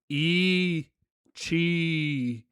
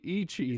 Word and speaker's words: ichi: because they kept saying, "Okay, here's how you say one, e chi." I'm like, "Okay, yeah, that's true, but you can also just say Is ichi, that itchy? ichi," and then like they